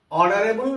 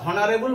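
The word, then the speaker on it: honourable: অনারেবল ম্যান, আমরা হনারেবল বলি না, আমরা হনেস্ট বলি না, আমরা হাওয়ার বলি না, অর্থাৎ এইচের উচ্চারণটা হচ্ছে না, উচ্চারণটা স্টার্ট হচ্ছে কিন্তু এইখান থেকে।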